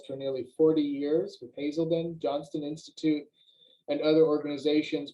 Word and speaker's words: Hazelden: He also has completed CD counselor training at, how you pronounce that, Hazelden? Hazelden.